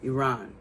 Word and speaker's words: Iran: Iran.